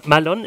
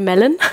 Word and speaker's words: Mallon: Malone ist so richtig ausgesprochen? Malone ist komplett richtig ausgesprochen, ja. Also richtig gut. Normalerweise sagen die Leute Melon, okay. Was nicht richtig ist. Malone ist richtig.